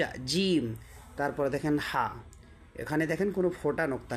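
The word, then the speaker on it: حاء: করবেন আপনাকে দেখেন সাম জিম হা টা এখান থেকে বের হবে আপনার এই আপনার এই মানে হলক বা আমরা যে বলে থাকি গলা থেকে হা তারপরে খ ঠিক আছে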